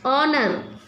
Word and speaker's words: honor: Generous, kingdom, daughter, fortune, honor, honor, H is silent, honor, disown, kingdom, disrespect, foolish, defeat.